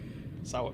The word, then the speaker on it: Sawa: And that brings us to Daddy Devon Siwa. I've had Devon Siwa Day. Sawa, right? It is Sawa. I just said Siwa because I just decided that that's how you say his name now.